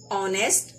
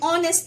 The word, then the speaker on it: honest: is a consonant H, that H is silent, so when the words are spoken, the opening sound is that of a vowel, so we put an before them, like an R, an honest man, and honor.